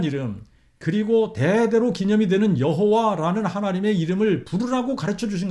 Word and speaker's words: 여호와: 듣고 결론 내린 것은 야외가 아니라 여호와 혹은 예호바라고 발음하는 것이 맞다라는 결론을 내렸습니다 우리는 오해 혹은 와우헤요